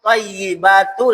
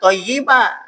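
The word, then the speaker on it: الطَّيِّبَاتُ: Nah, ini harus diperhatikan baca bacanya atttahiyatul mubarokatus shawatut thyibatu lillah. Ini kita baca attahiyatul mubarokatu shawatut thayibah. Thyiba bukan thayibah. Tak salah kurang tasdidnya. Artinya ini tidak memperhatikan tasdidnya.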